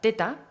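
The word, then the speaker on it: theta: viene otra frecuencia que se llama teta o z se escribe th e ta y son unas frecuencias que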